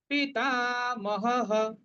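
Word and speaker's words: पितामहः: উচ্চারণ করব, কুরু বৃদ্ধ পিতামহঃ, টাটা দীর্ঘ, মহঃ বিসর্গের পরিবর্তে হ, পিতামহঃ, তস্য সঞ্জনয়ন হর্ষং কুরু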